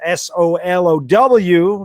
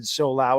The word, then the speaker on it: Solow: That's Solow, not David Solau, as I pronounced it in my video today.